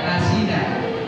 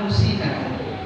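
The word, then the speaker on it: نسينا: Biasanya ada yang baca nasina, saya bacanya minhuma nusina.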